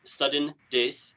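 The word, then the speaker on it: sudendesu: good Gateway for this I'm on Twitter is sudden Dace that's s-u-d-e-n-d-e-s-u the double entender a video games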